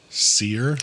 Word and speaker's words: Cyr: Seir like s e er. No, her last name is spelled completely different. Okay. Her last name is spelled C Y R.